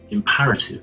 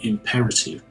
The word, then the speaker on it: imperative: not too big deal I pronounced imperative in a wrong way um I pronounced it as imperative apparently I sort of messed up the order of e and a um in my brain it's actually imperative um well in the